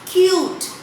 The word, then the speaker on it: cute: If we write cut and it is cut, and if we add silent E to it, it becomes cute, isn't it?